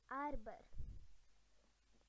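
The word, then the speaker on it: arbre: A is for arbor. Almost same as upper, but it's arbor, which means tree.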